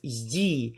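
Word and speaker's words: ї: is one simple rule when you see the letter yi okay you just have to pronounce it like two sounds yi it is never pronounced like e or something or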